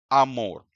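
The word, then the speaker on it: amor: दूसरा शब्द है अम मोर। इसमें भी जो स्ट्रेस है वो आखिरी सिलेबल मोर पर है।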